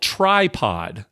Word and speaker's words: Trypod: And so this month is being called Tripod Month, where tripod is spelled TRYPOD, like try podcasting, right?